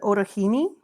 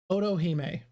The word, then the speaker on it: Otohime: Is it Orohime? Otohime.